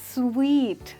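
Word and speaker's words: suite: के साथ कहीं पर स्टे करने जा रहे हैं। उस समय पे आप होटल में क्या बुक करेंगे? Let's find out. आप बुक करेंगे स्वीट, दैट्स राइट। आप सूट नहीं, आप स्वीट बुक करेंगे, ओके।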